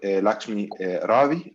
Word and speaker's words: Lakshmi Ravi: Lakshmi Ravi, is that right?